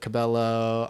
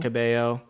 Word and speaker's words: Cabello: people in my immediately immediate family will pronounce it Cabello I pronounce it Cabo o Cabo yeah Joe